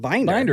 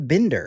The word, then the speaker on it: Binder: how you I mean it's spelled binder like I don't know why people do the Bender yeah I don't know